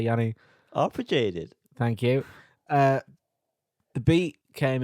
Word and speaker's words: arpeggiated: Arpeggiated.